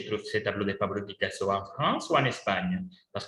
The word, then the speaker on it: Picasso: par le picasso minoritaires en france l accent tonique et tombe sur la dernière syllabe alors petit pablo picasso hockey et comment s'appelle le